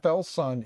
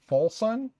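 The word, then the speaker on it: FLSUN: Just like, I guess, FL Sun is not really FL Sun. It's actually Full Sun. My understanding is we're all saying it wrong. I guess it's Full Sun. But we all say FL Sun because that's how we see it.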